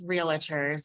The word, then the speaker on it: realtors: as realtors. And I mean, we know what, Pause yeah, for a second. yeah, Realtors, realtors. 2 syllables.